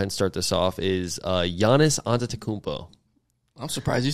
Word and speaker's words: Giannis Antetokounmpo: My Win of the Week, I'll go ahead and start this off, is Giannis Antetokounmpo.